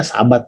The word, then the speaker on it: Sabat: Jadi SHBT ini. SHBT. Bacanya Sabat juga.